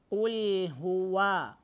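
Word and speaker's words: قل هو: Так не переходите. «Уль هُوَ». Так плавно. Не отпустил лям, дальше читайте. Уль хуа. Ва. Старайтесь выявлять огласовку на вау и губы на вау вперед.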